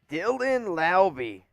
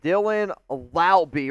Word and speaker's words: Laube: Dylan Laube. Yeah, rhymes with Wowby.